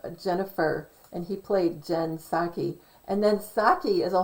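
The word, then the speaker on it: Psaki: played the role of jen saki p s which is silent p p s a k i who is the white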